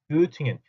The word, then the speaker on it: Göttingen: 여러분들은 이제부터는 Göttingen 하지 마시고 발음도 정확하게 Göttingen 하고 읽어주시고 Tübingen, Göttingen 제발 그렇게 읽어주셨으면 좋겠습니다.